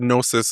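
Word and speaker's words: Gnosis: Um and the word Nosis is spelled G N O S I S.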